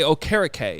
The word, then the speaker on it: Okereke: That You saying carrot cake, though, was perfect, because that's why I'm saying it correctly. Yeah. I just think carrot cake, Oh, carrot cake. but I say Okereke instead, and that's how I know to pronounce it correctly.